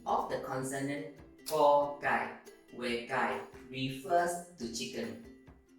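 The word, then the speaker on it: ก ไก่: So, for the rest of the Thai consonants we will be practicing, remember, you must read the 2 parts together when pronouncing the consonant. For example, ko gai, ko gai.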